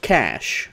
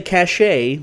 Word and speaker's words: cache: Look, I know it's pronounced cash, alright? But, I'm gonna say cachet, because there are people...